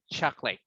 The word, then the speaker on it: chocolate: But that's the only way that you can pronounce it or say all the syllables. But everyday speaking, chocolate.